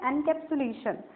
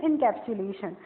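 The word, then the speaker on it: encapsulation: Next है एनकैप्सुलेशन या फिर इनकैप्सुलेशन, दोनों उसके प्रोनाउंसिएशन सही है।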